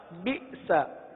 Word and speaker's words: بئس: بی، سین زبر سا، بئس۔ کیا پڑھیں گے؟ جھٹکا دے کر پڑھیں گے، بئس۔ لام سین زیر لس،